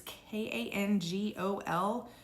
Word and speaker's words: Kangol: This brand, I think is pronounced Kangol. It's Kangol.